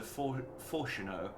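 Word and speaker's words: Forchenault: point of sending Master Forshino here to explicitly say, that's how I remembered how to pronounce his name because it's the same as Reno, here to explicitly state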